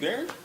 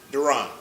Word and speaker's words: Duran: Like me and you, Darren. Right? Duran. I was going to say, that's not how you say his name.